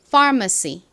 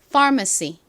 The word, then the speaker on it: pharmacy: e 소리로 쓰인 YL 써 주시면 완성입니다 far 발음해 볼게요 pharmacy 한 번 더 해 볼게요 pharmacy 좋습니다 같이 적어 볼까요 먼저 소리 나는 PH